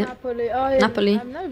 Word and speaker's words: Napoli: Napoli.